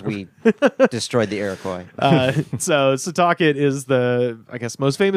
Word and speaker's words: Setauket: Setauket. Or Setauket. Okay, I'm glad you corrected. So, Setauket. Setauket.